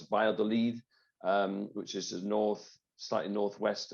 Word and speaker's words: Valladolid: There's a town which the Spanish pronounce Valladolid, which is the slightly northwest of Madrid.